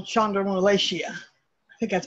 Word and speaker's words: chondromalacia: Because of that, I have what they call chondromalacia. I think that's pronounced correctly.